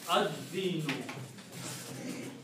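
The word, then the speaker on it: الدين: And this word is Ad-dinu.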